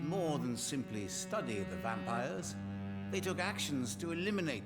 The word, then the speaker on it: Vampyr: yeah today we're playing a vampire that's at least how it's said to be pronounced a game playing in